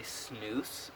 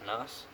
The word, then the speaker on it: snus: at you funny because I don't think many Americans know how to pronounce it it's turned out they pronounce its nose which is not even close to being correct it's smooth you of